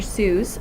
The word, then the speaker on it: Seuss: Seuss is his name was supposed to rhyme with voice and not goose, but he didn't care